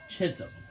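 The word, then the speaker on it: Chisholm: Adams Bunton Williams and Chism Chism Chris S I was about to say chry but that isn't the right pronunciation of it I'm guessing this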